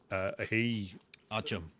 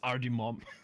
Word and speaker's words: Artyom: Artyom. Yeah, everyone says his name wrong.